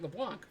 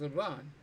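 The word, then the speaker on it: Leblanc: um from leuan um I learned the sea is silent as I called it lean for a while but it's aan um because it's it's French but uh yeah so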